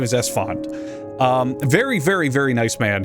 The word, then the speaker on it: Esfand: It is Esfand. It is Esfand. I always want to say Estefan, because in my brain that makes more sense, but his name is Esfand.